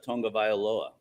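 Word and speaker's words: Tagovailoa: I I'm just say kudos to Kim it's Tonga vioa wow very good yeah I really worked on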